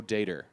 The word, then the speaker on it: Dator: Would we pronounce it data? How's it spelled? Dator. Dator. Dator. Dator. Yeah, he pronounces it Joe Dater. Yeah, but he's American. Yeah, so we'd say Data.